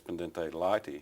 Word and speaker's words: pendente lite: I believe the pronunciation, as you said, is Pendente Lite hearings.